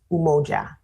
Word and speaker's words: umoja: day uh that is celebrated on December 2 umoja is how it's pronounced um so it's really the misconception is